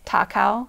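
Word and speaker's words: 高雄: So they decided to call it Kaohsiung, which means like high hero, because in Japanese, it's pronounced the same as Takao.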